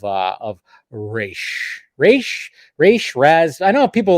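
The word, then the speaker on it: Ra's: debate comes in um some people will argue that both of them are acceptable pronunciations because one refers to the demon head head as in literally as in a head and then another translation is head as in the head of an organization so it's more figa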